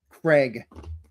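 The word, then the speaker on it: Kregg: Anyways, the way it's spelled is exactly the way it sounds. It's exactly phonetic. Craig.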